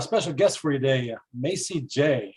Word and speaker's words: Macie Jae: we have a special guest for you today Macy J how you doing is that the correct pronunciation yes it is Macy J you got it it's a spelling that's going